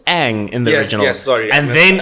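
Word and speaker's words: Aang: Um, obviously they also get the pronunciation wrong of Ang's name. It's Ang. They completely stuff it up in in the movie.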